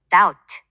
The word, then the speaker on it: doubt: 예를 들어 listen 듣다에서 T는 묵음이고 doubt, 의심하다에서 B는 묵음이죠. 이런 묵음 규칙은 단어를 외울 때 유의해야 해요.